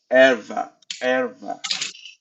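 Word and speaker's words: ערוה: Ça se prononce erva.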